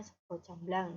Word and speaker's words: Sega jamblang: jamblang merubah itu busana Sega jamblang Tapi bacanya sego jamblang jadi akal bahasa Indonesianya